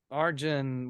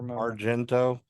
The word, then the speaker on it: Argento: always gets naked in his eyes yeah yeah Arjun whatever Argento Argento we got to say it with the